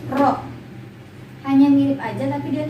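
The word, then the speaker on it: ρ: bila makanya seperti ini Rock di bacanya juga bukan p ya kalau misalnya nulisnya mirip kayak dia bukan p bukan panjang tapi rok hanya mirip aja tapi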